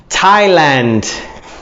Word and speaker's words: Thailand: Thailand. Thailand. Thailand is Thailandia. Thailandia. Thailand. Thai, like a shirt and tie. Thailand. Only it's not spelled the same, but it's Thailand.